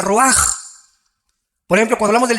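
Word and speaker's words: רוח: con r de Raúl a c h se pronuncia raj por ejemplo cuando hablamos del Espíritu Santo El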